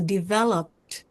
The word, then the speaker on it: developed: And this time ed sounds like a t. So developed.